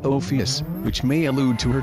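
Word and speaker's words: ὄφις: Ophelia also sounds similar to the Greek word for snake, pronounced Ophius, which may allude to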